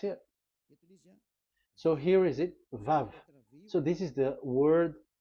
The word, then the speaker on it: Vav: Vav. So it's V as in Vogue. So it's really V. How to read Vogue? So the word, the shape Vav is really pronounced V, like Vogue. That is it, pronunciation. So here in this side, it's pronunciation. This is pronunciation. So according to the old Hebrew word today, those who the owner of the word, I mean, so it's a V. So don't change it into W, and you will say that